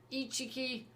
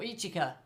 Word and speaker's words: Ichika: of miku nino and ichiki and yusuki or ichika sorry mispronounced the name there so then really